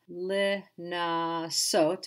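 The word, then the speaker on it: לְנַסּוֹת: But it's going to have the same idea of the extra syllable, li-na-sot, but it ends in ot, just as all the verbs which end in he.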